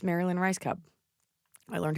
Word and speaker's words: Rajskub: seen in your area thank you it's Marilyn rice Cub I learned how to say your name I